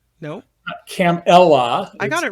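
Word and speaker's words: Kamala: her name which Trump and JD Vance keep mispronouncing perhaps intentionally la la there's a button with a comma and La it's not camela no cam Ella I got it right right I mean she's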